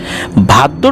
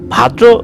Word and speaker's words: ভাদ্র: ভাদ্র মাসের অর্থাৎ ভাদ্র অনেকে এটাকে ভাদ্রা অমাবস্যা বলে। এটা মানে বিভিন্ন এলাকায় তাদের মত করে উচ্চারণ করে।